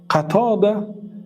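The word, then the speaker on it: قتادة: به پدرها دخل دارد پدرها خوب گوش کنید قطده ابن دعام السدوسی گفتیم البته این خیمه‌ها را بسیاری از اهل علم خطا تلفظ میکنن و برای درست تلفظ کردن نام‌ها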